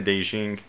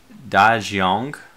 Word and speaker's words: Dajiang: The sovereign is closing, the Dajing, the Dajiang. I should say it correctly, now that I can look at the I have a moment of peace to look at the letters.